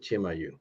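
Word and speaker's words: Chimayó: It's Chimayo, and they pronounce it Chimayu.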